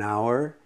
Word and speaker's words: hour: if we have an hour hours starts with h but the h is silent so it has an o sound so we go an